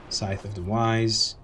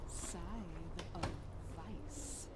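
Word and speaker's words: Scythe of Vyse: Scythe of the Wise. Scythe of the Wise. However it is pronounced.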